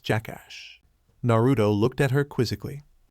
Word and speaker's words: JK Dollar Dollar: Pronounced Jackass.